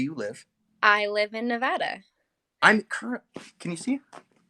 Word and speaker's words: Nevada: Is it Nevada or Nevada? It's Nevada.